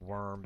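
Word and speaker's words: wyrm: to pronounce it as weirm even though the game is constantly pronouncing is just worm because it's spelled with a y and the english you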